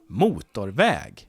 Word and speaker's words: motorväg: And if it's a compound, it has 2 stresses.